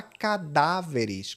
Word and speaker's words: cadáveres: Já cadáveres, o peso está no dar.